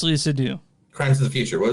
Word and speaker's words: Seydoux: Leah Sedux, is that how you say it? So Sedux? It's Crimes of the Future and it's Leah Seydoux.